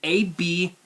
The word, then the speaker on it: Abhyss: And the pronunciation, the way it's spelled is Abhyss.